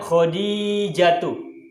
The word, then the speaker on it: Khadijatu: Lalu jawabannya adalah ana Khadijatu. Tu-nya tidak bertanwin. Ingat, nama perempuan hampir seluruhnya tidak bertanwin kecuali Hindun.